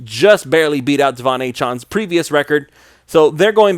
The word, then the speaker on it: Achane: So Tyreek Hill, Raheem Mostert, Devon Achane, I said it wrong again, but whatever, Devon Achane.